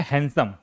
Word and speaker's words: हैंडसम: यह होता है हैंडसम। क्या होता है? हैंडसम। डी साइलेंट है। डी भूल जाइए आप। इस इस वर्ड में डी को आप भूल जाइए।